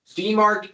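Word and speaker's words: DMARC: Demark DKIM and SPF. Like to pronounce the first one.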